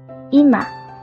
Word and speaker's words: 今: 记忆方法可以结合今晚来记忆，发音，home，有实则发音，ima。